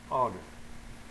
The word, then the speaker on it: honor: Attention, dans quelques mots commençant par H, celui-ci n'est pas prononcé. Donc, on devrait utiliser N en avant. Exemple, an hour, an honor.